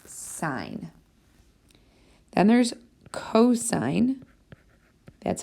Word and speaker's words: sine: okay the abbreviation is s i n now because people see the abbreviation they think it's pronounced sin it's not it's sign then there's cosign that's